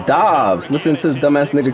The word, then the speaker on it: Dobbs: Completed out left to Dobbs. Oh, his name is Dobbs. And they'll work it inside the 15-yard line before it's all His name not even Romeo Dubes. It's Dobbs.